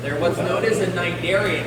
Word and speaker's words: cnidarian: They're what's known as a cnidarian, and that's cnidarian spelled with a C.